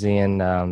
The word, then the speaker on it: Xian: So yeah, how do you properly pronounce it? I say Yeah, Xian, Xian.